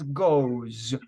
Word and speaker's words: goes: And when you pronounce goes, repeat goes. Goes. You have to pronounce it like a diphthong.